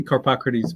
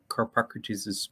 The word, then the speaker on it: Carpocrates: Yeah, I say Carpocrates, but any way you can manage it, it's a tough one.